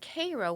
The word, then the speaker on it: Cairo: Cairo, and it's not pronounced Cairo. It's Cairo, Illinois.